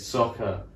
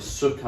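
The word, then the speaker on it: Sokka: the first episode really yeah it's aang it's soccer levi oh sorry not livio but in the film they never get it right the whole time it's um like sucker or sakura or some like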